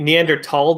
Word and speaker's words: Neanderthal: or is it fall so if you're doing it German it would be neander tall but spelled with a th um but it doesn't